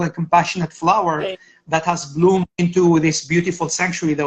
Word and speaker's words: Blum: I just want to make sure that I'm pronouncing your last name because I've been always calling you or it's Blum Blum correct right yeah and there's a funny